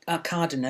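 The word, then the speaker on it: Arkadina: seagull yeah i played a cardinal as we pronounced it people pronounce it different ways a cardinal and she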